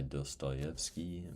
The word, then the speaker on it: Dostoevsky: I need to read shortened version of the idiot by dsttoyki.